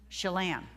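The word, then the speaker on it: Chelan: saw her I think her name is pronounced sha shalan anybody here from Washington know how the county is pronounced shalan yeah c h l a an shalan Harkin I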